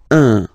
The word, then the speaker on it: un: without any doubt, but you've got to pronounce it like un. So it's what we call the nasal, so it goes in your nose, okay? So if you listen to me, you don't hear any N, okay?